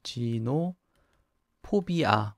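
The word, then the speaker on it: xenophobia: 쓸 일도 별로 없는데 몇 안되는 x 로 시작하는 영어 단어 중에 하나죠 이젠 호흡이 이렇게 발음을 합니다 그래서 뭐 진 후 포비아 원래 그 외국인을 두려워하거나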